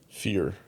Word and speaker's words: Fyre: Oh, and Fyre is spelled f y r e. Fear.